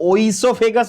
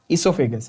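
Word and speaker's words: oesophagus: इसोफेगस की spelling ध्यान से देख लेना, हाँ, और ओइसोफेगस मत बोलना, इसोफेगस है, यू can write it with N ई और एन O, okay, it's the food pipe. Trachea is wind pipe, इसोफेगस is food pipe.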